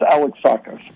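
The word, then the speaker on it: Alexakis: It's pronounced Alex Sakus.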